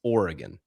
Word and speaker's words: Oregon: It's Oregon. I don't actually know what the correct pronunciation of Colorado is, but given that I'm